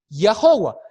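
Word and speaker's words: Yahweh: pantalla dice y iowa lo que acabas de pronunciar es la palabra ya howard que suena muy cercano a jehová lo que es jehová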